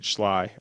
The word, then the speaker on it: Schley: then Georgia Military at Schley County or some people say sly I think it's spelled like Chalet but maybe I'm getting it wrong but uh I think